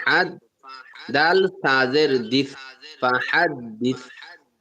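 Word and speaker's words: فَحَدِّثْ: ফা জবর ফা, হা, দাল জবর হাদ, ফা হাদ, দাল সাজের দিস, ফা হাদ দিস। কেউ স্তিন উচ্চারণ করবে না, এটা সাউন্ড হবে, ফা হাদ দিস।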